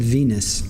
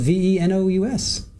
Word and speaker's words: venous: sounded like they said Venus. But it's spelled V-E-N-O-U-S, Venus.